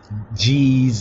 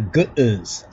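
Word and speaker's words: Ge'ez: Most of them even mispronounce the Ethiopic language, call it G's or Geeds or something like that, when it's actually KeGibS. You understand? That is the pronunciation.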